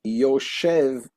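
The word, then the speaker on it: יושב: Here you would add a Vav, would be Yoshev, spelt with a vowel. When it's missing the Vav, it's Yashav, and it can be read as, rather than Yoshev, that is sitting, Yashav means he sat.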